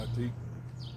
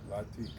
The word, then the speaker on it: Lateek: LATEEK. How you say it? LATEEK.